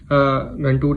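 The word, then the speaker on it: Ghantoot: घंटुक जो बॉर्डर पड़ता है अबू धाबी का, घंटूड, आई बिलीव यही बोलते हैं उसको, ऐसे ही प्रोनाउंस करते हैं।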